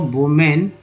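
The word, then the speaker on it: women: ई आ जाता है, इसका उच्चारण ही बदल जाता है, विमेन कहा जाता है, वुमन, वुमेन, वीमेन,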